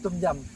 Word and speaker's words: tom yum: Tom yum. Tom yum.